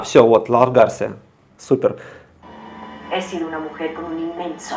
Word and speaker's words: he sido: H, первая буква не читается, Исидо. поэтому стало Можно Исида. начало тут. Да. Ага, sido это от глагола ser. He sido.